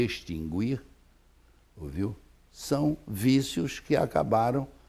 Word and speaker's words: extinguir: Extinguir e extinguir. Ora, esse U não pode ser proferido, embora seja proferido e embora seja até registrado nos dicionários.